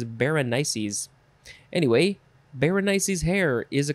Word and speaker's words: Berenices: means hair i mean i would call i would say bernice but the uh pronunciation guy says berenices anyway berenice's hair is